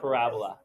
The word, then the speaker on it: parabola: that's what everybody says it's actually called parabola pronounced parabola okay it is basically what you study in math 11.